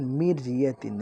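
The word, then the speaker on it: مِرْيَةٍ: এটা খেয়াল করেন, মির ইয়াতিন, একদম পাতলা, মির ইয়াতিন।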